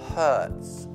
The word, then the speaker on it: hurts: Poi c'è la frase my, facciamo braccio per adesso, my arm hurts. Ricordando la pronuncia H, come pulire molto forte in inglese, ok?